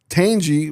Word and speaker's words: Tanjie: Tanjie. What's the last name again? All right. Not from the Milwaukee Brewers, right? No. No. Tanjie. Angie with the T. Don't you? Tanjie.